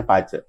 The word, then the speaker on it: Bazi: yang namanya pce paace itu tulisannya b a z i bazi Tapi bacanya pce bahasa chinesnya jadi pace He nah itu mengenai